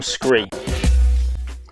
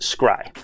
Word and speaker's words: SCRY: PlayStation 5 cooling fan the Arctic cooler from screen let me create myself I said screen it's actually pronounced scry it's the Scribe PS5 Arctic cooler now there's